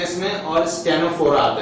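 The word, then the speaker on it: Ctenophora: और स्टेनोफेरा, टेनोफेरा भी कहते हैं, सी साइलेंट हो जाता है तो टेनोफेरा भी कह देते हैं, ठीक है।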